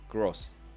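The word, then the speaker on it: Groß: It looks like a capital B, but it's not. It's pronounced like two S's. Gross. Gross versus Minteh, Gross.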